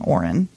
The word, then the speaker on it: Auren: a female name, and this name is Auren. And the reason I know this is because I knew somebody named Auren, and it's spelled O-R-E-N.